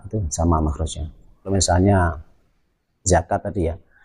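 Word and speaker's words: زكاة: Kalau misalnya zakat tadi ya, zakat diucapkan seperti huruf zo, zokat, zokat. Nah, itu malah lucu. Atau diucapkan seperti huruf dal, zakat, zakat. Nah, itu salah itu.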